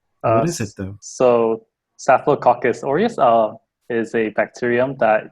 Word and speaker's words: Staphylococcus aureus: check it's called uh is that the correct pronunciation uh you're really close it's staphylococcus aureus but okay cool yeah you know i don't